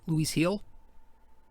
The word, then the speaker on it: Luis Gil: job luis gil uh see i keep saying louise kill it's actually pronounced louise hill heel louise heel it's spelled gi l but i think it's